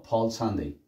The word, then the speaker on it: Palm Sunday: Pero como tengo dos consonantes, así como lo hice acá, entonces no vamos a hacer una pausa para decir palm Sunday. No, Paul Sunday.